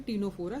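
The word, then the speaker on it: Ctenophora: टीनोफोरा, सी is silent, and this is Coelenterata.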